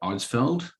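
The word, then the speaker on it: Eidsvold: And on my grandfather's side, he was born at Eidsveld. Ricky, you nailed that pronunciation.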